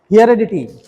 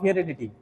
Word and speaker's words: heredity: Number 10 is mechanisms of heredity. Mechanisms of heredity. Heredity. Heredity. Heredity.